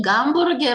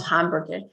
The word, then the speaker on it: гамбургер: И гамбургер это гамбургер, not hamburger. Hamburger.